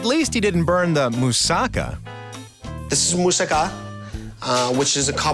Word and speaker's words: moussaka: I love moussaka, and when I saw it on the menu, I'm like, bonus.